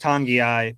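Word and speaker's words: Togiai: even say the letters in it but it's pronounced tangi-eye but we always called him noah tagoa and it's kind of stuck and do you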